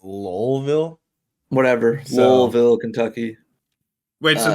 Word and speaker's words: Louisville: ] so that was jack harlow told me it's pronounced lolville whatever soulville kentucky wait